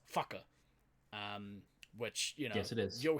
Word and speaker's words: whaka: Anytime you see a R, and with the WH, it's a F. So, for instance, WHAKA is fucker.